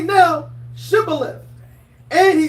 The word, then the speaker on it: Shibboleth: And they said unto him, say now, Shibboleth. And he said, Sibboleth, for he cannot frame to pronounce it right.